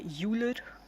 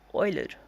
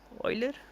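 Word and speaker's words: Euler: Uler. It's not uler. It's pronounced as Oiler. Oiler.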